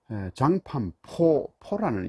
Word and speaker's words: 장판파: 파라는 말은 장판포라는 이 중국 발음으로 포인데, 이는 구릉을 이야기합니다.